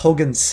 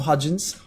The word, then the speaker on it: Huygens: Someone said it's pronounced Huygens. Huygens. Let's call it Huygens from now on. Not Hudgens. Huygens.